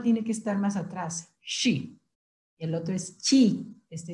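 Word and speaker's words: 十: Y el número diez, hacemos un puño y se dice she. Y este she es muy diferente al número 7 porque este es SH. La lengua tiene que estar más atrás. She.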